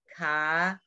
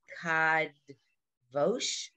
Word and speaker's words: kadosh: Kadosh. Again, versus what? Kadvosh.